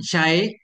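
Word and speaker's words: شيء: Syai' itu bihadzfil hamzah dengan dibuang hamzah. Syai'. Sudah ya. Syai'.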